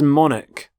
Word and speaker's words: monarch: current queen so monarch so the CH there makes the sound Manik the start of the word